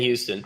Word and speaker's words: Huston: The actor's name Danny Huston. Danny Oh Houston. man, Danny Houston. is it Houston or Huston? Because it's spelled Huston. I think he pronounced it Houston, Okay, like John Houston.